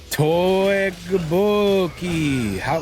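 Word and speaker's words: 떡볶이: Tteokbokki. What does she think of that? How about the white boy pronunciation?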